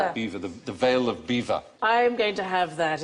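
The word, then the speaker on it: Belvoir: maning and bottom is B the bottom is beaver beaver the veil of beaver I'm going to have that if I ever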